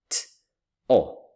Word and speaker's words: to: So if you pronounce or if you produce each sound you will say something like t and o right that would be the typical spelling t o. But when we read it all together in fact it goes to.